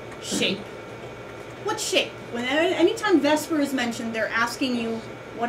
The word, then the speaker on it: VSEPR: you see this acronym which we say Vesper I know if you're actually going with its pronunciation it would be the supper but we just don't say that agonize okay does anybody